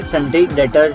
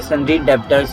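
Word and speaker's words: debtors: यहाँ भी हमें ध्यान देना है, सन्ड्री डेटर्स है, सन्ड्री डेब्टर्स नहीं है, तो बी साइलेंट रहेगा इसमें।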